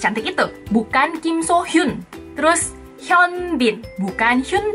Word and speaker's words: Hyun: Seperti tadi yang udah aku sebutin di depan, ini yang paling banyak salah disebutkan adalah nomor 1, H-Y-U-N. Bacanya pasti Hyun, Hyun. Nah, yang benar adalah bacanya Hyun.